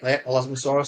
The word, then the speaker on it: Elasmosaurus: to another creature and this choppy here the elasmosaurus I think or am I pronouncing that right yeah elasmosaurus that's right yeah so is it it's it's